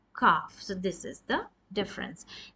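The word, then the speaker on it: ك: near this is for calf and this is for heavier cough this is the hard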